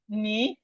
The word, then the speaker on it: knee: So we have knife, the K is silent, knee, the K is silent, no, I know you, the K is silent, knit, the K is silent, knit, that's when you knit a crochet.